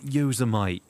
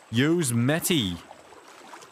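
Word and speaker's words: Yosemite: Oh, it's not Yozumite. It's Yozmeti.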